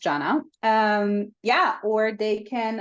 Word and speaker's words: Zana: Instagram Janna hospitality and my name is spelled z n a um but pronounced Janna um yeah or they